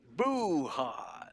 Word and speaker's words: Bujon: His name is spelled Bujon. He is Bujon. Boo-hot.